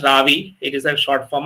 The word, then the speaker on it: Ravi: Looks like my kind of name, but it is pronounced as Ravi.